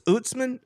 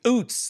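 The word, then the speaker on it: Ouzts: end how do you say his name UTS utzman utman yeah Robbie UTS OOTS there you go OOTS he um I heard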